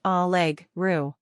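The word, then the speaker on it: allegra: for an informal greeting pronounce algra as all Leg Ru pronounced Chia as Chia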